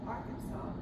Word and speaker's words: Arkansas: And if you pronounce it any other way other than Arkansas, when you're in the state, it is illegal.